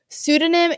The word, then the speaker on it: pseudonym: the case in Anonymous pseudonym is a tricky um this is how I think of it I have to remember that there's a tricky P that silent P at the beginning so PS and then